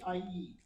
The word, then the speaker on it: Aihie: It's spelled Aihie. It has a lot of vowels. So, yeah, you'll need some training to be able to pronounce it. But my name is Aihie. So just call me. Yes, I get that. I can pronounce it actually. It sounds Edo.